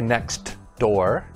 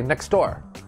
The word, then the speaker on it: next door: when the sound disappears you see a t or a d in a in a word but we don't pronounce it clearly for example the first one is next door but we don't say next door we say next door